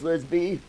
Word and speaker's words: Lisby: All right, Lisby. Rhymes with frisbee.